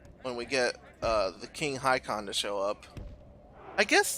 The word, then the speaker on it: Håkon: And what if King Haakon or Håkon, I think I actually heard that it's Håkon, I don't know. But I'm going to continue to pronounce it Haakon, even though I'm almost positive that's like horribly incorrect.